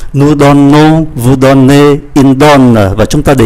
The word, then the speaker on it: donnent: Và ngôi thứ ba số nhiều viết khác nhưng mà cũng phát âm giống như là ba ngôi số ít. Như vậy bốn vị trí